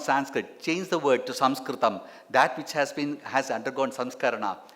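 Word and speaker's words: संस्कृतम्: Sanskritam, yes, without knowing, I don't, even I had heard even Sanskritam professors, telling it is Sanskrit. Sanskrit is incorrect because the British could not pronounce Sanskritam. They call it Sanskrit.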